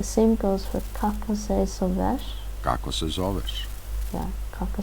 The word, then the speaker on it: zoveš: With T, the verb ends in the sh sound.